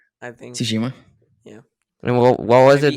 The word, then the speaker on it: Tsushima: more, Need for Speed Heat or Ghost of Tsushima or something like that? I don't even know how to say that. Tsushima, I think. Tsushima.